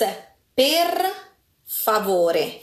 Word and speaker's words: per favore: When you say please, right? It's per favor. That sounds more Spanish than Por favor. Italian. Is that better? Nope. No, worse. Okay, it's per favore. Did you see that rolling R again?